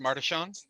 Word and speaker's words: Martesian: Martesian. It's pronounced Martishan.